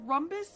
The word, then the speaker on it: rhombus: Is it rom or room? It's spelled R-H-O-M. Bus. Rhombus. Oh R. God. And it sounds rom.